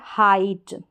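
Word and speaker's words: height: उच्चारण नहीं होता है यहां पर देखेंगे हाइट हाइट में क्या है ये जो आई है आई जीएसटी में आई है इसको तो हमने आई पढ़ा जी एच साइलेंट और टी का उच्चारण ट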